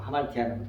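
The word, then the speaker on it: ἁμαρτία: 하마르티아다고 발음할 수도 있고 하말티아라고 발음할 수 있어요.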